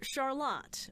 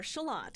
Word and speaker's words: Charlotte: Not Charlotte, spelled the same, but pronounced Charlotte or Charlotte. It's a big debate.